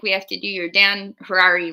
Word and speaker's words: Harary: have to do your Dan Harari rhymes with Ferrari Dan Harari rhymes with